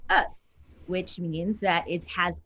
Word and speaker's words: œuf: And so without the L, it's pronounced œuf, which means that it has also same derivative of the word ovary.